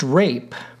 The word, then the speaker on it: ripe: homophones as well and ripe was pronounced rape hence Jacques wheeze laughs